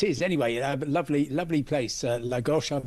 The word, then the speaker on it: Lagos: And of course, um, I just need I'm contractually obliged to point out that it's actually Lagosh in Portugal, not to be cons confused with, uh, Nigeria's biggest city.